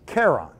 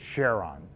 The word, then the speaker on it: Charon: underworld Charon right but in Greek the proper pronunciation is Karen and so he was